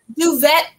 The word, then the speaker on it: duvet: a little bit so is that pronounced duvette Urban like I I know what it is but I've never heard anybody say Okay duvet okay that's where they use water